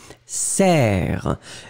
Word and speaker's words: serre: Le premier, bien ouvert, E, serre. Et le deuxième, E, sœur.